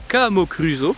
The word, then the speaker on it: Camocruso: Et par chez nous on l'appellerait la Camocruso, en forçant bien sur la première syllabe.